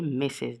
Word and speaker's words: Mrs: and mrs is for a married woman okay missus this is we we pronounce this message okay and of course the